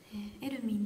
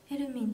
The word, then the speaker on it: hermine: エルミンと読みます。